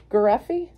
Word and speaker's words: Garreffi: all right so we are here with Jim gy yes is that how you pronounce it yes and Ann bue an and